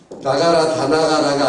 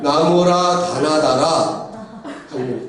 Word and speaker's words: 나모라 다나다라: 무사님 아이고 참 나가라 다 나가라가 아니라 나모라 다나다라.